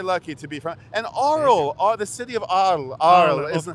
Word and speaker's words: Arles: town called Arles, and I'm mispronouncing it because it's beautiful in French, but it's Arles, I think, Arles.